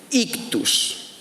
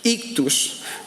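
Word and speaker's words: ἰχθύς: Bueno, ese pececito significa que la palabra pez en griego se dice o se escribe ictus. Ictus.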